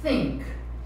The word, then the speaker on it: think: Você vai colocar a língua nos dentes e soprar. Think. Think. Isso, não pode ficar com vergonha. É um som que a gente não tem em português, né?